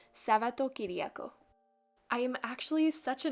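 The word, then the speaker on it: Σαββατοκύριακο: Sunday, I decided to write weekend, which is pronounced Sabato-Kyriako.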